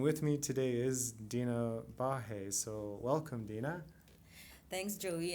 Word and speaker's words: Baje: dina thanks joey and thank you for pronouncing my last name correctly yeah no one else like i well there probably are just a couple of people who are uh non-immigrants who can pronounce my name correctly because of the h sound but yeah thank you